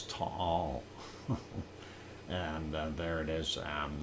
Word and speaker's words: Taal: And no, it's not Taal, it's Taal.